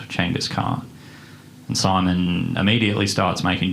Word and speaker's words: Genghis Khan: on Wikipedia is that in ancient Mongol the letters g e were pronounced CH so the famous warlord is actually called Changas car and Simon immediately starts